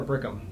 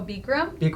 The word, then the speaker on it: Bikram: a bodybuilding contest I try Berko is it burcham or brigham is how you pronounce it Oh Bikram from the hot I'm sorry gosh so we